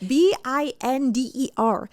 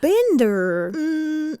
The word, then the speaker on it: Binder: time because his actual name is spelled B I N D E R. Binder. Now, if his name was Binder, I would say that's gay and I like it. But Bender, public execution.